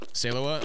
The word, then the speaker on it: Salewa: one do you say do you say salewa or salawa salawa okay so do I all right so you say it correctly closing the door behind